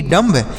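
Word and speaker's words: dumb: पढ़ेंगे इसे डम पढ़ेंगे डी य एम बी डम बिल्कुल नहीं इसे डम नहीं पढ़ना है इसे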